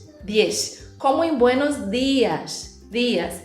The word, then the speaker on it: diez: E o 10, olha só, aqui o som do DI. Então lembra daquela pronúncia lá do Nordeste do Brasil, diez.